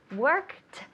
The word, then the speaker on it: worked: That's a good reminder to say worked. You have to create some sort of memory to make yourself eliminate the E and pronounce the T.